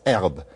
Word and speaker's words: herbe: So French, it's herbe. And that means that not only did they drop the H, but they dropped the A at the end. Now, it's spelled with an E at the end, but that E is not really pronounced. It's rather like our silent E. It's just gone.